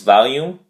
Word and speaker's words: volume: quarter three week five two syllables volume the emphasis on the first syllable vowel so value and that